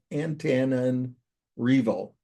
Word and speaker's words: Antananarivo: It means the word, and it's pronounced antan like a banana, Antananarivo.